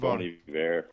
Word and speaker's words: Bon Iver: Oh, man, Bon Iver. Bon Iver.